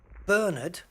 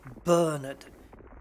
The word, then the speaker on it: Bernard: we would say, like, the man's name Bernard, we would put the emphasis on the first syllable, Bernard, and then the second syllable, nerd, would be not pronounced so much, Bernard. But in the States, it's on the second one, so it comes out Bernard.